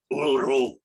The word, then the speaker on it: Uluru: I spent the rest of the day walking around Uluru, and that's how they pronounce it. Uluru.